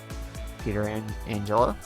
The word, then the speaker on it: Pietrangelo: Louis Blues, gonna head Jay McClement at left wing, Barrett Jackman at left defense, Patrick Berglund the center, Alex Pietrangelo, that's it, Pietrangelo at right defense, and David Backes at right wing.